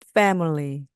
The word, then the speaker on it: family: 바람이 나오면서 빼 빼 뒤에 나오는 m iy요 리처럼 부드럽고 약하게 발음해 주시기 바랍니다 왜냐면 강세가 앞에 있기 때문인데요 자 들어 보세요 family family 느껴지시나요 밀리가 아니고입니다 자 두 번 따라해